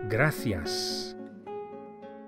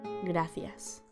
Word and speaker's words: gracias: Thank you, which in Spanish is gracias. Gracias. The C of gracias is pronounced as an English TH, as in thanks, the same word.